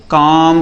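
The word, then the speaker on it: comb: अब एम के बाद बी आया है तो मानी सी बात है ये बी साइलेंट है। इसको पढ़ने की जरूरत नहीं। क्या पढ़ा जाएगा? सिर्फ और सिर्फ कॉम पढ़ा जाएगा।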